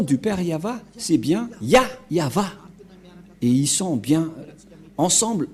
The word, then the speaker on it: Yahvah: avons déjà la traduction abituava ad KBI ya yava voilà il est déjà regroupé le nom y yava qui est très clair donc le nom du père yava c'est bien yava et ils sont bien ensble en ce moment